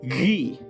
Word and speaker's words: ghee: First things first, like a ghost in a ghetto, ghee is pronounced with a hard H. It's not a G, it's not a ghee, it's not glee, it's ghee. Ghee.